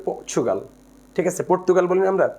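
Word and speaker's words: Portugal: পর্তুগাল শব্দটা কিন্তু ইংলিশে উচ্চারণ হচ্ছে পর্চুগাল।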